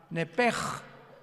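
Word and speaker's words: נפש: Pero la sh en hebreo se pronuncia como J. Entonces se pronuncia nep como el francés, ¿verdad? Que es gutural. Nepej.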